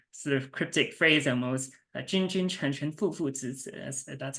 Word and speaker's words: 君君臣臣父父子子: replies with this sort of cryptic phrase almost, 君君臣臣父父子子, that's how you pronounce it in Mandarin.